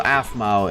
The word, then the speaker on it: Aphmau: told you I have small eyes um so aphmau is how you pronounce it uh what's that sorry I'm adding